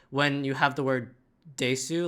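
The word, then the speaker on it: です: Just like when you have the word desu, like desu, you don't pronounce it desu, you pronounce it des.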